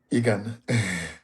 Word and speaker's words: Eghan: Eghan.